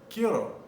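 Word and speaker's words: quiero: i e r o so i want is kiro this is again a very very important verb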